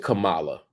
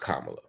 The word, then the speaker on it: Kamala: Second, and more importantly, I think, you said Kamala, not Kamala.